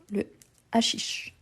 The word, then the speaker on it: hashish: Ensuite, on a hashish. Hashish. Donc, H muet ou H aspiré. Hashish, donc. H muet ou aspiré. Aspiré. Vous avez raison. Donc, le hashish.